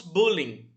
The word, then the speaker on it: bullying: certa maneira, apesar que uma das poucas vezes que a gente utiliza uma palavra em inglês e a gente utiliza a pronúncia dela em inglês mesmo na nossa língua. Então nós falamos bullying, né?